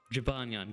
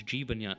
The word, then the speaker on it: Jibanyan: Jibanyan though. Kind of like that. Jabanyan. Got it. No, it's Jibanyan. Jabanyan.